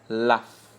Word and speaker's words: laugh: We could see phone, fish, fruit, cough, flower, laugh. Now, the GH in this particular form brings the pronunciation of the F sound, the F, like laugh, phone.